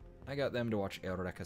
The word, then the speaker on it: Eureka: I got them to watch Eureka 7, which is very good. It's spelled Eureka, but it's pronounced Eureka for some reason.